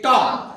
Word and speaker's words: talk: जैसे टॉक, TALK, उसको आप टाल के नहीं बोलेंगे, क्या बोलेंगे? टॉक।